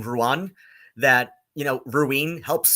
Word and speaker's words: Ruadhán: uh is Rowan and Ruan is close enough to how you pronounce Rowan um or Rowan is how is close enough to how you pronounce you know my name Ruan that you know ruine